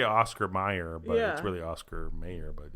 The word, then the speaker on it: Oscar Mayer: the right okay yeah yeah because you say Oscar Mayer but really Oscar Mayer but it's pronounced at Oscar Meyer okay people spell my name with the e